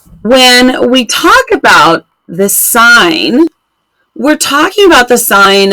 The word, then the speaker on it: sine: if you see this you're gonna say that sign and of course that's not how spine is often spelled but this is how sine is spelled for trig and this